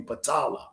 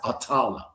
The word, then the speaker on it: Patala: It's really Patala, okay? Or some people pronounce it Atala.